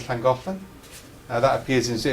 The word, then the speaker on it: Llangollen: Although just to be clear, the double L sound in Welsh, the only other language in the world which has it is Zulu, which is an ironic link, right? It is, right? Double L sound, I think Llangollen.